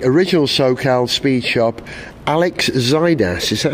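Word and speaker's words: Xydias: founder of the original SoCal Speed Shop Alex zidas is that how you say his name or zidus zidas okay yes oh telephone call from Miss ETA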